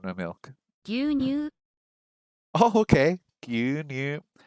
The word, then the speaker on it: 牛乳: Gyunyu. I think that must come from the Chinese pronunciation.